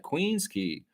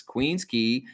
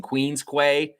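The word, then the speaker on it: Queens Quay: Queen's Key is that's how you say it. It's said key. Key is the way you say that word. So anybody who's walking around saying Queen's Quay, you're an idiot.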